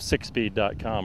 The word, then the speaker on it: SickSpeed: And that's spelled SIKSPEED. That's it. Because it can sound like six, right, but it's SIK, right? Right. Sick as in sick fast, sick hot.